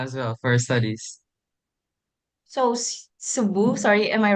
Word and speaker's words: Cebu: So, Subu, sorry, am I right? Did I pronounce it right?